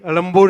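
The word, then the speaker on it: Ezhumbur: Chennai, Alambur is the correct way to pronounce, right? Anybody from Tamil? Vanakkam, sir. Alambur is the right way? Not Egmore, na? We should change the spelling also.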